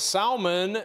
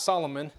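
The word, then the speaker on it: Salmon: look at verse five and Salman not Solomon Salman begat Boaz of rake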